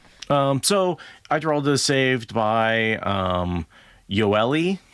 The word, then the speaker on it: Yoeli: You're supposed to pronounce that Yurli, according to Michael and Kate.